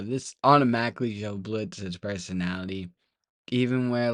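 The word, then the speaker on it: Blitzø: Which is kind of weird, because normally he wouldn't write that because he wants to go by Blitz, where the O is silent and everything.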